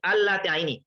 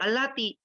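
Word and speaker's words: اللاتي: Tulisannya pendek dan banyak yang baca pendek allati. Padahal kita lihat di situ ada namanya mat tabi'i yang bentuk garis lurus ya ke bawah. Maka dibaca panjang itu allati.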